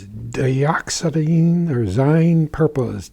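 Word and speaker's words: dioxazine: And I cannot pronounce the name of it, but let me try. It's dioxine or zy purple.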